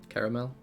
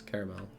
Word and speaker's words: caramel: For surezies, the way I most often pronounce it, caramel, it just like skips a syllable.